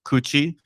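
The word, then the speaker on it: 口: that that character is is literally pronounced coochie when it's by itself but when it's combined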